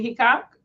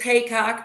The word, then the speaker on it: Heacock: correctly is it Tammy he coock it's ha coock but it's people say he coock ha coock it's spelled like he coock so oh you're